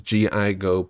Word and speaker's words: GIGO: Ladies and gentlemen, my name is GIGO, put it together and it is pronounced Gigo, and today I'm going